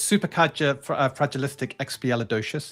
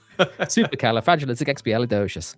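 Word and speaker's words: supercalifragilisticexpialidocious: You ducked up the pronunciation. It's super califragil. I also It's not so simple. Supercalifragilistic xpelidocious. There you go.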